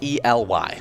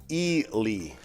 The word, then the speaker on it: Ely: names to pronounce because i would have never guessed that the single e at the front of it would be pronounced actually e yeah that's not how